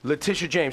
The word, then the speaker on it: Letitia James: Letitia James.